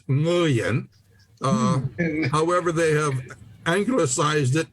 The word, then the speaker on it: Nguyen: The way I learned it was the NG sound is the last words in the pronunciation in the word sing, S-I-N-G. So it's Nguyen. However, they have anglicized it in American to just say Nguyen because most people cannot